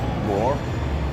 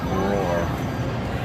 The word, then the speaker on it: Bror: Bror. Bror? B-R, like roar, but with a B. Bror.